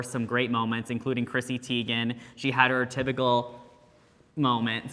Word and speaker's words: Teigen: There were some great moments, including Chrissy Teigen. She had her typical moment. So That is my sis. I love her. Hey sis. Did you guys? Teigen. Yes, I was gonna say it's Chrissy Teigen.